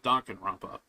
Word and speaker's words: Danganronpa: uh yeah Danganronpa although although some people might pronounce it as uh Duncan ramp up but Duncan rampa danganron I always pronounced it uh Danganronpa but yeah that's that's